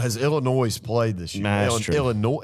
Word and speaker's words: Illinois: Illinois played this year Illinois is it Illinois noise Illinois Illinois okay yeah that's what I say silentness I guess I guess that's what I say anyway Illinois we got confirmation this is silent is so uh give